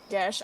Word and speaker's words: geas: Geas, Geas, or however you pronounce it. It's pronounced Gesh.